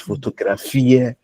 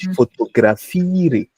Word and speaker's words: fotografiere: So always know, because we say in German we don't swallow words, so you can't say ich fotografiere nicht. Ich fotografiere. The e at the end, you need to pronounce it.